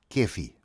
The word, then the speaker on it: cafe: Now, if ever there was an archetypical South African institution, it has to be the ubiquitous corner cafe, pronounced kefi, which did not necessarily